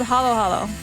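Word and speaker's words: halo-halo: It's like patbingsu for Koreans, which I also don't know if I'm pronouncing it correctly. But it's called halo halo.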